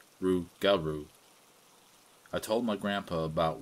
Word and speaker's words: rougarou: the old legends of the rougarou which is pronounced rougarou I told my grandpa about what had happened